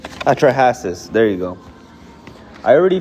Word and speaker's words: Atrahasis: Um, I don't know how to pronounce atraases. Atrahasis.